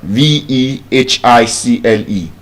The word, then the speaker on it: vehicle: Now in this word the H is silent. Vehicle. Vehicle. But the irony of it is that while the H is silent in vehicle in vehicular the H is not silent. It's vehicular but vehicle.